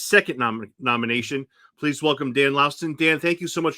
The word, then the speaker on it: Laustsen: last name correctly right laosen right is that correct correct you have to make a short pause in the middle you know it took